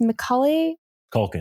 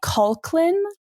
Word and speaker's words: Macaulay Culkin: they i can never say his name it's macaulay culkin holly culkin i always say culklin called once we're introduced to him they the